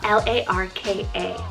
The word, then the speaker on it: Larka: We have the unique name Larka, spelled L-A-R-K-A, Larka.